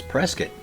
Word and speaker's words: Prescott: My favorite one here in Arizona is pronouncing Muggy-on. Well, howdy, stranger. You're not from these parts, I reckon. This is Prescott.